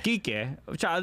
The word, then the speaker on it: Kike: Kike.